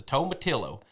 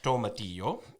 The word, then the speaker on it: tomatillo: born in america especially in the south the tomatillo all right but it is pronounced tomatillo and it's a kind of a tomato-like plant